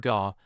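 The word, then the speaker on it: ก็: This little word gau pronounced a bit like gau and gawking is incredibly common in Thai.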